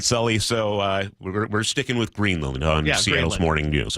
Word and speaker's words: Greenland: I'm noticing on CBS News they're pronouncing it Greenland instead of Greenland. I've always pronounced it Greenland. Should I change my pronunciation? I've always gone Greenland. You've gone Greenland? Don't change your pronunciation.